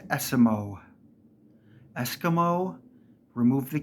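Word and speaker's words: Esiemo: we go last one say the word Eskimo and remove the K his name is pronounced esimo Eskimo remove the K esimo it's not aimo or ASO it's esimo very easy Smo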